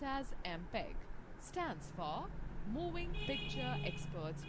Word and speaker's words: MPEG: listen the songs students note the fact mpeg pronounced as mpeg stands for moving picture experts group mpeg-7 the